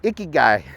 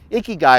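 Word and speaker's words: ikigai: a stab at it i think it's icky guy it's called i k i g a i icky guy it's in the middle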